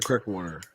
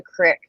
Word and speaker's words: creek: bucks county no no he doesn't have the creek it's called a crick that's weird you're from